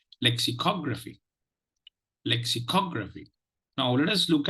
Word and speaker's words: lexicography: have tried out your pronunciation listen to the pronunciation of this word it is lexicography lexicography lexicography lexicography now let us look at the let